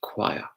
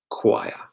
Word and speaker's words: choir: about CH oh I oh and this is pronounced choir choir choir alright I have to answer to me these